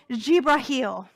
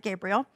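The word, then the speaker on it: Jibril: And as can happen, up pops the angel Jibrahil. We might pronounce it Gabriel.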